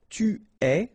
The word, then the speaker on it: es: Okay, so je suis, final S not pronounced, tu es, okay, so it's quite strange because you get this ES, but then phonetically it's est, alright, quite open, tu es.